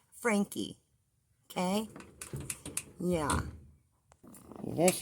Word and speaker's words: Franke: And her name is not Evie Frank. Okay? There is no Evie Frank. Her name is Eve Franke.